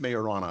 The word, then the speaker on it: Majorana: It's pronounced Majorana, apparently. It's pronounced but not Moderna. Like the drug.